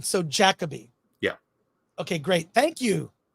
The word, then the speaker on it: Jacobi: I, Claudius on Blu-ray, starring, I'm positive I'm pronouncing this wrong. Is it Derek Jacobi or Derek Jacobi? I will be corrected. I think it's Jacobi. I'm pretty sure it's Jacobi.